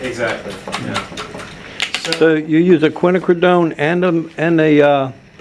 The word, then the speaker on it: quinacridone: corner in in golden from now on out quinacridone is the official pronunciation in this class um okay so that's